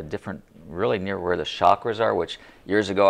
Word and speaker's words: chakra: really near where the chakras are which years ago i had no idea what a shocker is or chakra i guess is the correct pronunciation but we place that